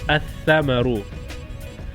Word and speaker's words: الثمر: Tha is also the sun letter. I'll give you an example. Thamarun. Thamarun means fruit. Definite is athamaru.